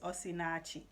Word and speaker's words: Osinachi: i'll tell you her name her name is osinachi and and it's very possible i pronounce the last name incorrectly because the end could be silent but her first name is osinatchi okay so you can look her up but